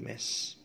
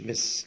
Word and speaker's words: mess: It was such a big mess. Was such a big mess. مش miss. لو miss هتبقى بالآي. لما دي mess. Mess. في مسافة بين الام والاس كده في النطق.